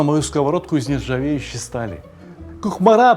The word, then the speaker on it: Кукмара: Кухмара, правильно говорить по-татарски.